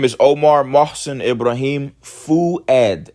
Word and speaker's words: Fuad: My name is Omar Mosen Ibraim Fuad.